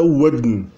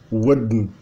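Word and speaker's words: vỹn: Por exemplo, a palavra que é grafada VYN é pronunciada wudn, wudn, como na verdade tem um contorno, na verdade, oral, né? Ele tem um D que desnasaliza um pouco o N.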